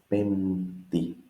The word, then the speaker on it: Πέμπτη: Here, actually, this P is not pronounced. It is just Πέμπτη. You can say Πέμπτη, but it's not how most Greeks would say.